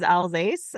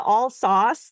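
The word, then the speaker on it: Alsace: know where the but the all sauce thing drives me nuts I'm like where's the U you guys it's not there it's Ela alas yes alas you were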